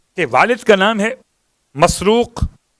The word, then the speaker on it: مسروق: حجاج کے والد کا نام ہے مسروق. 3 تلفظ ہیں الگ الگ الفاظ کے اعتبار سے، مرزوق، مسرور اور مسروق. میم سین رے واو قاف مسروق.